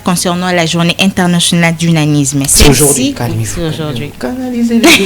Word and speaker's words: nanisme: Tommy Koussé, ah, donc, c'est journée internationale du nanisme.